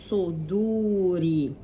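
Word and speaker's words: صدور: Fi, and then sad with a dhamma, su, not su with an s, it's su. It's the sad, it's a thick sad, very thick. Su. Try to close your mouth. Suduri.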